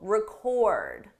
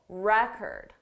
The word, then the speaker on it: record: The difference depends on syllable stress. With the verb, the stress is on the second syllable, record, record. For the noun, the syllable stress is on the first syllable, record, record.